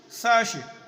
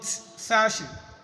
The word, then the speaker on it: Saoirse: principal principal pneumonia pneumonia Saoirse sir she is not Sashi glad glad blood ok